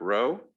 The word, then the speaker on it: rho: i want to give row that's pronounced i mean this is uh row greek letter rho um theta and a